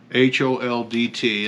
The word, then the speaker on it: Holdt: This one's called Toe Holdt, spelled H-O-L-D-T, and that's not a typo, that's just the way it's pronounced.